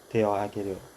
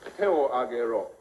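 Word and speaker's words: 手を上げろ: Teohageru. Not bad, not good. It's teo agero.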